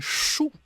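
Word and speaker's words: 數: And then the fourth one is the fourth tone of the same pronunciation, shu.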